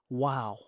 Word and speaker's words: و: This is right here is wow.